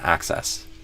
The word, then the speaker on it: access: Access. Access. So with the a and the stress on the first syllable access the world, access information instantly and complete task more efficiently.